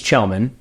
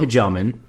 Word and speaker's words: Kjellman: So Jenn and James Chelman, not Kajelman. Shellman.